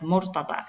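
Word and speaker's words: مرتضى: Aquí vemos que murtada no toma ningún cambio, se mantiene tal como es murtada, en una alif maksura que obviamente se pronuncia como a.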